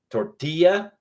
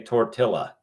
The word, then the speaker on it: tortilla: Do you say tortilla, or do you say tortilla? No, we pronounce the LL as a y sound.